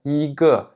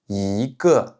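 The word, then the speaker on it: 一个: Donc par exemple ici, on va pas dire I ge, on va dire I ge. I ge. Donc on va changer la prononciation en deuxième ton.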